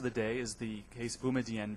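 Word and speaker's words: Boumediene: issue in boumedienne first by the way the pronunciation is the chief judge chief justices not mine I'm not trying to impress you with my my high school French there are two questions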